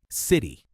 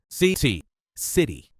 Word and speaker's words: city: Notice, your tongue touches the roof of your mouth very quickly, but you don't fully pronounce the T. That's what gives it the soft D sound.